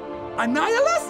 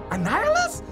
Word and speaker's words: Annihilus: let me see what his name is bro annihilus is how you say that annihilus that's like green goblin but iron man version